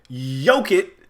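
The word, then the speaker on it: Jokić: But yoke it, which somebody told me that's how you pronounce it.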